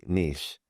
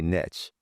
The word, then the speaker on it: niche: So Canadians say niche and Americans say niche.